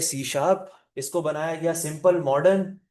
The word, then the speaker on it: C#: इसको प्रोनाउंस क्या किया जाता है? C sharp.